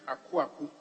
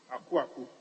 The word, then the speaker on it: Akuaku: Speaker, I just want to say that the name is Akuaku. Akuaku. I heard something different. So. Well. I pronounce it in Akan way, in Asante way. So it's Akuaku.